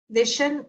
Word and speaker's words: Vishen: Vision. And he's Vishen, Vishen. Got it. And then Lakhiani is spelled Lakhiani.